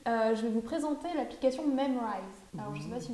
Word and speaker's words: Memrise: Ah, M-E-M-R-I-S-E. Ah, pas du tout. Memorize alors. Memrise. D'accord. Memrise. Il n'y a pas de O.